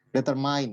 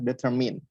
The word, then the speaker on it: determine: Di sini biasanya kita ngomongnya kalau menentukan itu determine ya, tapi yang benar adalah determine ya, determine. Oke, jadi mean bukan mind.